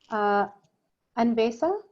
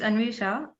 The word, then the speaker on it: Anvisha: Anvesa, Is that how I say it? Tell me if I said it wrong. It's Anvisha, and Anvisha.